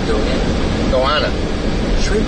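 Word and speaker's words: goanna: no TV says okay it's actually pronounced goana says they only smell bad after goana goana Goana.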